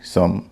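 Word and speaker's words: some: ओवी ई glove CO एमई कम एसओ एमई सम डीओ NE done N ओ एन नन आपने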